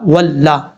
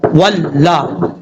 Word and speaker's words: واللہ: اگر آپ میں سے کوئی پڑھتا ہے واو لام زبر ول تو غلط طریقہ ہے، شد کو پڑھیں گے، اس کی ہاف حالت کو پڑھیں گے ہجے کرتے ہوئے، واو لام زبر ول، اس طریقے سے۔ اب لام کے اوپر زبر ہے، زبر بھی پڑھا جائے گا، لام زبر لا، واللہ، ذال یا ذی، نون